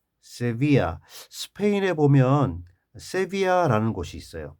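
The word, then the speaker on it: Sevilla: 옛 세비아. 스페인에 보면 세비아라는 곳이 있어요. 발음이요 세비에 세비아요 정도로 하는데.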